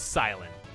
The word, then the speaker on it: Cilan: and my name is it's pronounced silent I don't like it